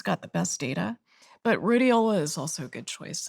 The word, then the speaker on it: Rhodiola: I've found a supplement called, I can't pronounce the name properly, but Rhodiola? Oh, rhodiola?